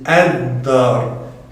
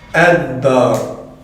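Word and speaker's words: الدار: Et là encore une fois, on prononce la hamzatul wasl. Pourquoi? Car elle est en début de phrase. Donc on dit ad-dar, ad-dar.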